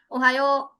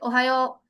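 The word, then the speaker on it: おはよう: what will it be, ओहायो, a little long stretch at the end vowel के साथ। okay, ओहायो, this one, a stretch one।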